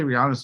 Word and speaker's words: Rihanna: I'll say we also say Rihanna's name wrong. It's Rihanna.